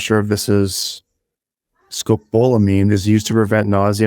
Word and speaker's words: scopolamine: in Colombia okay have you ever heard of scopolami I think that's how you say it no balamine scabolamine scopolamine it's a drug is it the one that